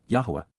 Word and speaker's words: Yahowah: But instead, KY, at that time, AZ, simultaneously at that point, Yahowah, Yahowah, the proper pronunciation of the name of Eloah, God as directed in